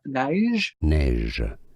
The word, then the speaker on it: Neige: So Neige is how it's said.